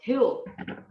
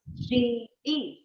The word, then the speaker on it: huge: But there is one thing that matters is the pronunciation of the word hue. You. Huge.